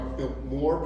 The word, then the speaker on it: Biltmore: so we used uh we used to always emphasize that second syllable kind of like how Oscar did today when he introduced us uh we are built more power more power and